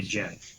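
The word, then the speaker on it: Djinn: Dead, and most recently Jen. Is that how you pronounce that? D-J-I-N-N, Jen?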